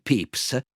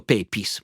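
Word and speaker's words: Pepys: che si chiama Samuel pips scritto pepis Io ho scoperto adesso che si pronuncia pips comunque Samuel pepis che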